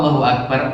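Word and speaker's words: الله أكبر: Allah Allahu Akbar A-nya panjang, itu berarti kan nambah huruf ya. Nambah huruf maknanya berubah. Apa maknanya? Allah artinya apakah Allah? Itu berarti nanya, bertanya. Jadi kalau Allahu Akbar, apakah Allah Maha Besar? Tanya teman. Allahu Akbar, malah tanya. Jadi itu termasuk kesalahan fatal. Ya, hati-hati. Sama juga akbarnya A-nya jangan dipanjangkan.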